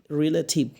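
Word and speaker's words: relative: কি মানে রিলেটিভ রিলেটিভ, এখানে টির উচ্চারণ কী হবে? টি টি টি লেখা কিন্তু উচ্চারণ হবে ঠিক, রিলেটিভ।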